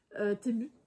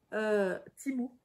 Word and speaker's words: Temu: Temu. Je crois qu'on dit Temu. Timu, on dit même, je crois.